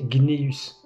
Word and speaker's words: Cneus: Et parfois, ce C pouvait être prononcé G, comme Caius se prononçait Gaius, ou Cneus se prononçait Gneus.